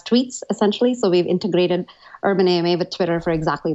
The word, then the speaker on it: UrbanAMA: essentially so we've integrated urban a may have a Twitter for exactly that so should I pronounce that urban Amma or urban AMA which do you prefer we like urban Amma ah we I like